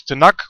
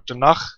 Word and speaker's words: Tanakh: the Hebrew Bible others would call this tanak or Tanakh maybe slightly depending on how you spell it and how you want to pronounce it and the New Testament